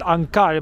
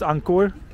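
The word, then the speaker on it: ankor: chord with an o i actually think i said it wrong to all of yesterday i said ankar but i think it's ankur docks nice simple word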